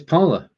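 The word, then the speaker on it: Parler: Parley was meant to be pronounced the French way, but it became the way you see it. Oh, thank you, Peter. So it's parlor.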